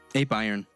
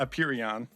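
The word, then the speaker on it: Apeiron: idea worst name ever ape iron it's not a perion yeah if you're wondering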